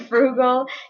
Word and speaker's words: frugal: people i like and frugal describes people who are very careful with their money they tend to save their money um and it kind of rhymes with bugle and so you could